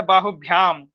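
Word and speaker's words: बाहुभ्याम्: थोड़ा मुझे सुनने में ऐसा लगा आपने बोला है बाहुभ्याम। अगर यहाँ पे आपने बाहुभ्या बोला तो एकदम आपका सही है भगवान। बाहुभ्या जो ये मतलब ब और भ दोनों का उच्चारण होना चाहिए भगवान।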